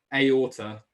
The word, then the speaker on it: aorta: say something like that aorta that's how you pronounce that um you could talk